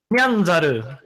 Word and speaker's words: Nyanzaru: Nyanzaru.